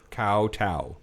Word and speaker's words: kowtow: Kowtow. Yes, kowtow. Oh. Also, it's spelled with a K, not with a C.